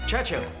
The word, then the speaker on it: Churchill: James's visit his Churchill Churchill that's how you say it all together like that I'd heard church and Hill but couldn't find either all I could see